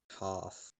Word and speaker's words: Toph: That's before they meet Toph. Toph, that's how it's pronounced.